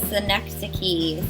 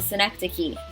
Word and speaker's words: synecdoche: year um and this one is called a synecdoche synecdoche synaptic key synecdoche it is pronounced much differently than what it looks like